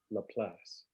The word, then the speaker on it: La Place: was much easier to Simply say it as La Place which is the French the French pronunciation for the same thing yeah all right cool